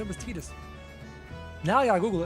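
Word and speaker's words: Tidus: I also learned that in Final Fantasy 10, apparently it's pronounced Tetus and not Titus. I've never played 10, but I always thought it was called Titus, but I was corrected recently.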